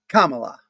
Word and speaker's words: Kamala: It's Kamala. Got it? Kamala. Kamala. Kamala. Yeah, like comma.